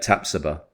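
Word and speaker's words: Tapsoba: we do sign uh tapsuba which Apparently that is how you pronounce the name tapsody one thing right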